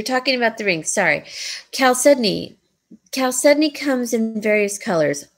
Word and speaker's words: chalcedony: color just like mother-of-pearl Michelle it's chalcedony but pronounced yeah chalcedony exactly very good Thank You Francis what did